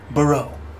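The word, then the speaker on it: Boreau: Um, how do you spell that? B O R E A U. Brow.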